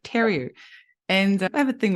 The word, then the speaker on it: Theriault: actually recorded that, but I pronounced your surname wrong. I said Theriault instead of Theriault.